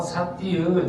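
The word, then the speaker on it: sati: 그럼 이제 두 번째로 사띠의 중요성을 알아보겠습니다. 아주 오랫동안 사띠는 사띠 이렇게 발음하는 게 이제 빨리어예요.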